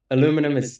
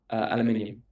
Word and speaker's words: aluminium: That's very the aluminium is very clear. That's the Americans are wrong. Aluminum doesn't exist.